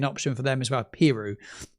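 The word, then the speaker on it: Piroe: Pirou, to pronounce it correctly, it was Pirou.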